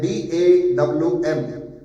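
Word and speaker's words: דם: गया है डैम, DAM, pronunciation होता है DAWM, ठीक है।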